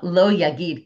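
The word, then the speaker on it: לא: Lo is spelled im lo yagid. If you don't say, it should be lamed aleph. But it's spelled lamed vav aleph.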